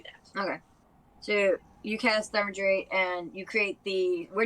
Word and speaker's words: Thaumaturgy: No, I don't know how to pronounce that one. Thaumaturgy?